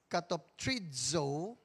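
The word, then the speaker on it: κατοπτρίζω: But the Z is pronounced as cut of trizo which means to reflect or to look at.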